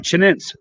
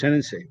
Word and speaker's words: chinense: It looks like Chinense, but it's pronounced Chinense.